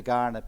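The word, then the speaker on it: Kaurna: continuing importance to the garnet people living today i'm very intrigued that uh it's with a k but pronounced g i checked this but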